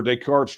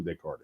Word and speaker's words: Descartes: Okay, new channel member, Descartes Droid. And see, notice I pronounced it correctly because I know who Descartes is.